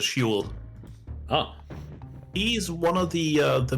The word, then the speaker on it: Hwell: In the books, usually pronounced as Huel.